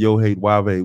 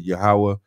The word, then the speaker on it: Yahwah: most high God Lord he said yoh wave we would say yahawah and we would spell it y a h w a h yahwah got that right so that's how but